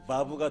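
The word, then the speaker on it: וָו: 약간 V, 바브가 더 V스러운 것 같아요. 예. 바브. 바브. 바브. 예. 그냥 한국 사람이니까. 자, 좀더 바브. 약간 더. 예. 아랫입술을 살짝 깨물어 주세요.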